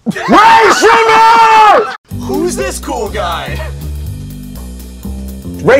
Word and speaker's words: Rae Sremmurd: Rae Sremmurd rhymes with Gray Lizard. Rae Sremmurd!